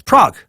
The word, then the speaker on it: Prague: It's Prague. I looked it up again. What did I say? Did I say Prague or something?